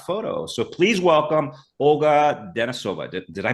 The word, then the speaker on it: Denisova: So, please welcome Olga Dennisova. Did I pronounce that name correct?